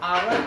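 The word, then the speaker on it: hour: हालांकि आपको देखने में लग रहा है ये कॉन्सोनेंट है, लेकिन ये दोनों साइलेंट है। इसको जब हम उच्चारण करेंगे ऑनेस्ट और आवर ही होगा, इसीलिए यहाँ पे हम लोग एन ही लगाएंगे।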